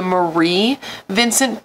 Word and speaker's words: Mary Vincent: In addition to being an artist, she has also started the Mary Vincent Foundation, which I believe is actually pronounced the Marie Vincent Foundation based on how it's spelled.